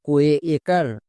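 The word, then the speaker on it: cake: এর জন্য একার মানে কোকার হয়ে গেল সি এ কে নেক্সট কে কে এর জন্য কো এবং শেষের ই সাইলেন্ট তাহলে কি হল সি এ কেই কেক এখানে এ ভিসিবি রুলে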